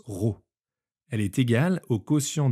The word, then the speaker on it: rho: La masse volumique d’une espèce chimique se note avec cette lettre de l’alphabet grecque, qui se prononce rho.